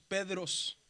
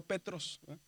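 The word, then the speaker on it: Πέτρος: Dice que cuando hay una tao y una ro juntos, la palabra se pronuncia como dr. Por eso decimos Pedros, no Petros.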